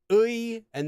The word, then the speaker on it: 의: Most of the time though, when this syllable is used as the possessive marker and only when it's used as the possessive marker, you can also pronounce it like this. A.